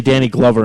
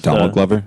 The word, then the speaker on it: Donald Glover: Because I always say Danny Glover and it's never correct. Donald Glover? Donald. See, I always say Danny. It's Donald Glover.